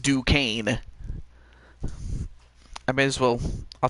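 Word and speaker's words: Duquesne: e s n e Duane I mean it it's spelled that way but it's pronounced Duane I may as well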